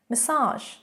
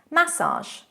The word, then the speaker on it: massage: Massage. Massage in American English. Massage. Massage in British English.